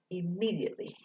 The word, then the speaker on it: immediately: though it sounds but it starts with an i it sounds like an e immediately so ii me d